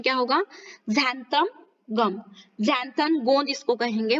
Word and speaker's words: xanthan: तो बच्चों यहाँ पर देखिए, व्हाट इज xanthan गम, ठीक है, इसका प्रोनाउंसिएशन क्या होगा, xanthan गम, xanthan गोंद इसको कहेंगे।